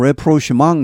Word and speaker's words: rapprochement: 원래 프랑스어에서 나오죠. 불어에서 나오는데 approach에서 나왔습니다. reapproach죠. 다시 접근하다는 말에서 나온 말입니다. 발음 레프로시망 이렇게 됩니다.